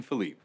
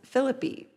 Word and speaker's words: Phillippe: says meat like ryan philippe i thought it was pronounced philippi yeah but that doesn't rhyme with me well i mean neither does philippe okay